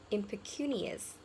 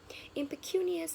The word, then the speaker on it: impecunious: The very next word is impecunious. Impecunious. Impecunious means very, very poor or not having enough money. Impecunious. The stress is on the third syllable.